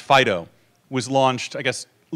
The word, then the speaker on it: FD.io: the fast data consortium FD io usually pronounced Fido was launched I guess